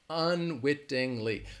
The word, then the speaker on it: unwittingly: it's going to have well unwittingly four syllables alright and if you're wondering